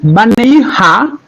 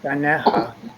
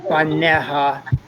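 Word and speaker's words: בָּנֶיהָ: So Uvno Teha Baneha. We don't actually pronounce the Yud.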